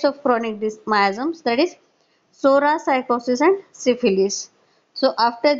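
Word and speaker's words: Psora: also it is the original word being the Sora that is t o s o r a that is T is silent which means a grw a fault a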